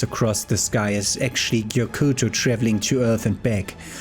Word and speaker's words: Gyokuto: wraiths in european folklore gyokuto pronounced yokutu in japanese thank you for that